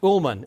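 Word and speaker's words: Ulman: Ullman. Ullman. You see, that's why I don't go as Al Ullman. Everybody either mispronounces it or misspells it.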